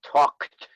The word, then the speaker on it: talked: so it's only idi remember the sound is a kt talked talked asked asked asked and talked baked i think it's a little harder when there's the l tall talked we just we